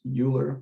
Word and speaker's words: Euler: uh so it's called the natural base or euler's number this name i know it looks like it should be pronounced euler but it's not it's euler um this is